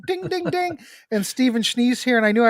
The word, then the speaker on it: Schnee: Number one, just in case anybody is curious, my last name is Schnee. Well, it's actually pronounced Schnee, and that's German for snow.